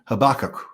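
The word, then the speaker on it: Habakkuk: they all pronounce it habak oh yeah I did hear it's a different stress it's more or less the same way it's a stress a little bit later on into the word yeah yeah we have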